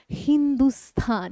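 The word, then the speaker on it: हिन्दुस्थान: আমরা আমরা তো না ইরানীরা বা পারসীরা যখন ভারতে আসে ব্যবসা বাণিজ্য করতে তারা না এই সিন্ধু দন্তে সকে দন্তে স বলতে পারতো না দন্তে সকে হ উচ্চারণ করতো তো সিন্ধুস্থানকে এরা বলতো হিন্দুস্থান সিন্ধুস্থানকে কি বলতো হিন্দুস্থান তাই থেকেই ভারতের নাম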